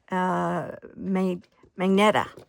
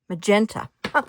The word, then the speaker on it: magenta: Or it's not Magneta. It's called Magneta. Magenta. Oh my gosh. I am brutalizing words. Magenta. Oh, I was really pronouncing that wrong.